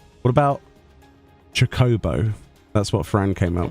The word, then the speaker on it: Chocobo: So, Chocobo would be traditionally the English like the British way of of pronouncing it, right? Chocobo is the American way of of of uh pronouncing it supposedly in all of the voice stuff.